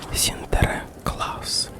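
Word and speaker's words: Sinterklaas: долгое время не праздновали в Голландии имя Святого Николая произносится как синтекс и выглядел он как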